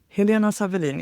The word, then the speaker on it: Helena Sawelin: Helena Helena Savin is my I pronounce it in Swedish.